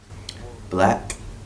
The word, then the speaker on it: 6LACK: This is Black. Check my interview out on the Vibe. Peace. Now switch. It wasn't what you thought it was. Another story to tell. Black Yeah. in 3 words. It's pronounced black.